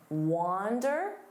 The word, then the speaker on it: wander: Now, notice that pronunciation wander. Don't confuse this with wonder.